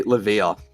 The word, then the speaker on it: Levia: How do you pronounce it? I say Levia.